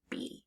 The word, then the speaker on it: be: That first part, the B, is making an it's making a regular sound. It's making B. But that E, we would expect it to be making a short E sound, E, but it's not.